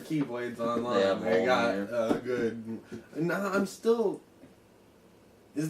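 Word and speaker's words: Mjölnir: It's Mjolnir. Mjolnir. They don't. They don't really pronounce the L that's in it.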